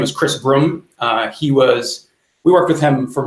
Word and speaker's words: Brumme: It's kind of a tongue-in-cheek thing because his last name is Broom, Brumme. But everybody mispronounced it as Broom.